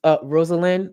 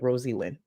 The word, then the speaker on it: Rosalind: And I just want to say, the other Bryn, I know it's pronounced Rosalind, but I'm going to be an asshole and I'm going to pronounce it Rosie Lynn.